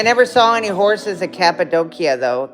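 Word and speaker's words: Cappadocia: Yeah, I never saw any horses at Capidokia, though. Capidoshia again. I think the Turks pronounce it Capidokia.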